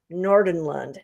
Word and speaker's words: Nordenlund: Now, today, my esteemed guest is Lars Nordenlund. Did I pronounce that right, Yeah, Lars?